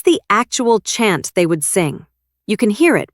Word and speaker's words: Samhain: It's pronounced sin, by the way.